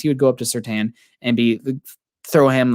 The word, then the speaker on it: Surtain: But Surtain, I think, also has, I said it right, everybody, thank you.